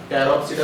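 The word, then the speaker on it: Pteropsida: और लास्ट जो टाइप है वो है टेरोप्सिडा, टेरोप्सिडा पी साइलेंट है, टेरोप्सिडा, इसका ड्रायोप्टेरिस, इसका एग्जाम्पल है, क्या है?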